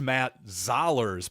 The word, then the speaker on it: Zollers: By the way, while I'm thinking of this, by the way, it is pronounced Matt Zollers.